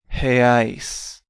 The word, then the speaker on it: reais: Let's practice that pronunciation. Real, real, real, and reais, reais, reais.